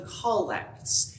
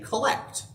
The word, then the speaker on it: collect: the episcopal church because anybody else who's not been a part of the episcopal church will look at this and say collect but using the pronunciation of the word collect is an indication that this is something specific and the collects are